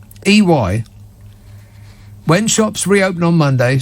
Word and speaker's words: EY: According to a new survey by the business services group EY, which is not A. that's not what it. That's not how you pronounce it. It's not A. EY.